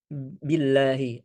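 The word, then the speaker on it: بِاللَّهِ: Perhatikan huruf ba di sana huruf ba billahi dengan harakat kasrah. Maka kita harus sempurnakan harakat kasrahnya. Adapun yang sering terjadi mungkin karena tergesa-gesa atau ingin ee membaca dengan cepat terkadang ya terkadang kita membaca harakat kasrah dengan ee logat e ya dengan e yang itu huruf e itu tidak ada di bahasa Arab ya kecuali nanti ada hukum tertentu tapi secara hukum asalnya tidak ada bacaan itu dengan e maka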